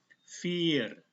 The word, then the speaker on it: vier: Lihat ini ada huruf I dan E. I-nya dibaca panjang, E-nya tidak usah dibaca. Jadi ini cara bacanya vier.